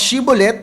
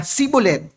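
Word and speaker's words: shibboleth: Sabi sa verse 6, "Ah, sabihin mo ang shibolet." At sinabi niya, "Sibulet sapagkat hindi niya mabigkas ito ng tama.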